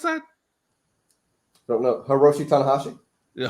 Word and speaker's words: Hiroshi Tanahashi: Hirso to the Shawnee. How do you pronounce that? Don't know. Hiroshi Tanahashi. Yeah, Hiroshi Tanahashi.